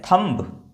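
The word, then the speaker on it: thumb: एम के बाद B silent. यहां पर सब में देखिए। देखिए इसको क्या पढ़ते हैं? थंब। ये क्या है? ये थंब है। नहीं। ये थंब नहीं है। ये है थंब।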